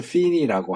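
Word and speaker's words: Finney: 1차 대각성은 조나단 에드워즈에 의해서 이루어졌고 2차 대각성은 한참 뒤에 찰스 피니라고 하는이 사람은이 웨슬레적인 상성 성향을 가지고 있는 사람이에요. 조나단 에드워즈는 칼빈주의자고 찰스 피니 F 발음인데 찰스 피니는 알미니안 주의자예요.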